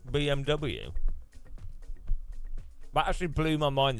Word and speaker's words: BMW: never heard anyone say BMV B BM BMV you don't but you know it's not you pronounced W as a v rather than a w so not BMW BM